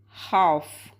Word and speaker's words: half: a fun one uh we say how half H LF half where L is silent so we say half which is weird right